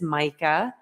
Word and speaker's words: Majka: I know it doesn't look like it should be said that way, but it is Mica.